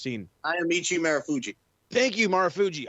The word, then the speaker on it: Marufuji: Thank you, Marufuji. I've been trying to fucking say his name. I don't know why I wanted to call him Miroshiro.